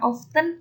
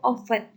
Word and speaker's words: often: often atau How often boleh ya bacanya antara often atau often artinya seberapa sering digunakan untuk